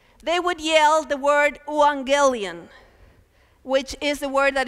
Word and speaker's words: euangelion: So the word in Greek is euangelion. That's how you spell it.